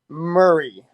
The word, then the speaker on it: Murray: Murray.